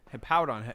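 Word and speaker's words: Hippowdon: Yeah, it's it's Hippowon.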